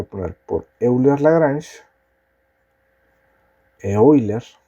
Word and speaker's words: Euler: Como yo voy a resolver esto usando ecuaciones de Eulers la Granche. Las ecuaciones de Euler Lagranch me dicen, aquí voy a poner por Euler la Granche. Eoiler como en realidad se pronuncia.